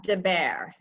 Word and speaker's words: de Baere: it's a tricky one it's um and it's uh dear is my last name okay dear um I